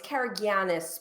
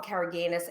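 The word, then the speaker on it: Karagiannis: named greg um and i keep saying his name wrong it's cara giannis but i call him caraganus and it's because it's this crazy greek name he's a an amazing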